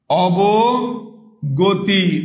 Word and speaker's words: অবগতি: বলি অভিধান ও ভিধান এরপরে অবগতি অ আবার কি গতি অবগতি ভাইয়া দেখি একটু অবগতি অবগতি এই যে ভাইয়া অ বাকি সবগুলোতে ও হয়েছে শুধুমাত্র পাঁচ নাম্বারের এই যে ঘ নাম্বার উত্তরে কি আছে অ এর উচ্চারণটা অ এর মত আছে অ এর উচ্চারণটা অ